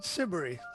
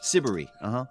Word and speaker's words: Siberry: Is that how you pronounce her name? Siberry. Siberry.